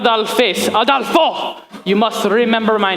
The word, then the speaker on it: Aldolpho: Oh, it's Aldolpho comes to seduce the bride.